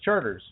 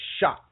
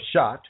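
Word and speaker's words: Chartres: And if you're American, it says it looks like charters because it's spelled chrs. And because we're Americans, we say, "Oh, that says charters." But it's really actually shot or shot.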